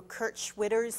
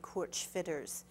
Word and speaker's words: Schwitters: of you know who Kurt Schwitters is. That's the American pronunciation. In German, you'd say Kurt Schwitters. We'd say Schwitters.